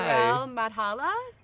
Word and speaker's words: Harel Madhala: Harel Madhala. Yeah, Okay. that's the way to pronounce my name.